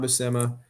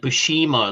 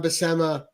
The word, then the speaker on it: Buscema: Yeah, I always said it wrong. I said it like Bushima or something like that. Says it, but the way I learned is I went and watched John Buscema with Stan Lee on YouTube.